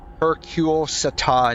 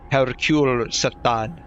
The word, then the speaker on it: Hercule Satan: Hercule Satan. That's probably his that's probably how it's actually pronounced. Hercule Satan.